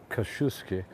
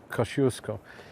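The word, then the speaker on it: Kościuszko: well about this about the square is today's Koshu ski whoo sorry Kosciusko say it right it's bit cold who here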